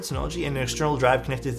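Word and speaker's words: Synology: Samsung t7 shields uh have my own sonology Nas is how you pronounce that word sonology and an external drive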